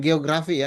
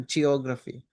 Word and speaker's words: geography: Tadi eh siapa tuh pronunciation-nya kurang bagus, bukan geografi ya, geography.